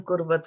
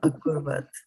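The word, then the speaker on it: अकुर्वत: And then, yes, and this is still Kim Kurvat for you. It should be Kim Akurvat.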